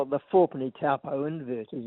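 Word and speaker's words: Taupo: Four penny lake topo stamp. What is its what is its providence? Well, we we call it the for pony tapo invert is its um abbreviated name.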